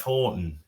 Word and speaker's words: Houghton: that we say Steph Howton uh do we no what do we say we say Steph Horton and everyone else says